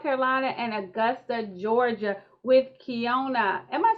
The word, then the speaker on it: Keyona: butcher my name so i should do better kiana yes mia we are here okay so we